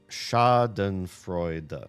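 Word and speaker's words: Schadenfreude: Wait, is it Shotten Frea or Scotten Frea? Given that she given that Bonnie pronounced it with a sca shaden fraud.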